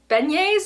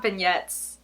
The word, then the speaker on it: beignet: I really want to eat some beignets. Is that how you say it? Not vignettes. Beignets, right?